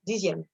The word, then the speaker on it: dixième: Like, if you have to say this one, dixième, in French, it's dixième. But saying D, Z, M, dixième, dixième, because sounds in French